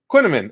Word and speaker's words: Quinnaman: Alex's last name is pronounced like cinnamon. Just drop the C and add the Q. Quinnaman.